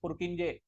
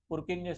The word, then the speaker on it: Purkinje: Even though they harbor electrical dynamics, the okay, I am going to pronounce it as Purkinje.